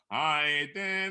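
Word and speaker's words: Heiden: Now look. Haiden. How about that wonderful Haiden? Haiden with Haiden. Haiden. Yes. Keep it in line with that high. Let that high influence the den.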